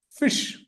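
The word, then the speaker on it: ghoti: well he you know he said this is pronounced as fish goti can also be pronounced as fish how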